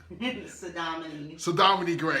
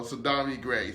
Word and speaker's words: Saudamani Gray: Saudamani Gray, because I always get your name right. I always get your name wrong. Pronounce it wrong. So, Saudamani Gray.